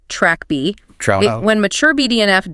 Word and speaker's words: TrkB: of neurons called the TrkB receptor, pronounced track B.